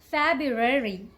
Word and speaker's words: February: one quite confusing okay the correct way to say this word is February February just do a little